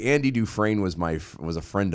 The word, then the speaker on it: Dufresne: yeah man so when andy dufren do do fresney dufresne yeah it's different it's it's pronounced different okay when andy dufreyne